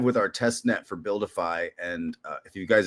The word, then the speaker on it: BuilDeFi: So um Buildify is spelled Well, you can see it on this stream here, guys, if you're looking, but it's BU LDFI. So build defy.